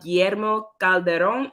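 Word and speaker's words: Guillermo Calderón: into a preview of GMO Calderon. Is that how you say it? Yeah.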